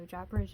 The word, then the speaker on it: Japaridze: I looked it up on Google, that's what it told me, so Japaridze it is. To me, I would say like Japaridze or something, but Japaridze is Japaridze, and you can see the title right there.